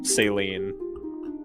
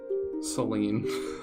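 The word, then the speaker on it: Céline: saline Seline Seline yeah saline is a medical thing there there's a character named saline and engage you're kidding yeah it's spelled the same except as an accent over the e oh my gosh so like in my brain I keep reading as saline because I'm so used to that being the name of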